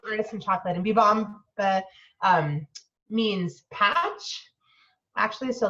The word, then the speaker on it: Bibamba: And our business name, we're called Bibamba, is how you pronounce it. So I know Good that's to a little know. tricky. Not everyone knows because this is how it's spelled, but we say Bibamba.